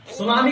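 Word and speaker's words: tsunami: अब बताइएयो बता सुनामी का टी साइलेंट है ऑनेस्ट का एच साइलेंट है तो फिर वाइफ का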